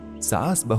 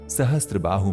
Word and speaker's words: सहस्त्रबाहु: लोगों के सही उच्चारण नहीं कर पाने की वजह से सहस्त्रबाहु मंदिर सासबाहू मंदिर के नाम से प्रसिद्ध हो गया।